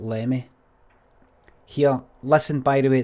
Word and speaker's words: Limmy: Sounds odd English people pronouncing Limmy, Limmy and not Lemmy.